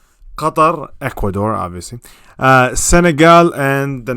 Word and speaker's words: Qatar: That's how you say it, by the way. Qatar, not Qatar, or whatever the hell they're saying now.